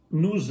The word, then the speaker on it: nous: Nous avons is one example. Nous, the word nous is usually pronounced without the S at the end, not nous avons, but